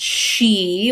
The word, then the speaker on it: Sidhe: So, Samhain was a time when the she-mounds, and that's Sidhe, but pronounced she, which is what a lot of people would know as the fairies.